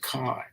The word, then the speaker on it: kai: Pronounced Kai. K-I. Kai.